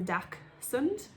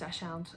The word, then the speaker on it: dachshund: dachshund or dash hound for me it's dachshund because it's about d-a-c-h-s-u-n-d so that's a dak sund my husband just thinks it's dashound and i'm pretty sure he smells it wrong i occasionally spell it wrong as well because i get my own head about it being dashound but dachshund feels natural to me so that's what i